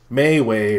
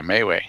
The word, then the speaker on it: MeWe: suggested that we try Mayway or MeWe or Mew or whatever you want to pronounce it. I say MeWe because it looks like me, we, me and we.